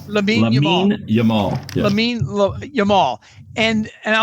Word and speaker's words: Lamine Yamal: Lamine Yamal. Lamine Yamal.